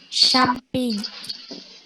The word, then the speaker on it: champagne: CH itu dilafalkan kayak shin. Kalau kalian ngaji gitu ada huruf shin. Nah, itu hampir kayak gitu pelafalannya jadi SY atau SH. Contoh, champagne.